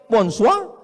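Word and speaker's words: bonsoir: Tulisannya bon jowur. Bacanya bonjou. Bon soir, bonsoa.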